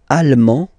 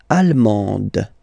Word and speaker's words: allemand: L'Allemagne, allemand, allemande. Okay, same thing here. En, okay, you don't pronounce the final D, but then you pronounce it here for the feminine form.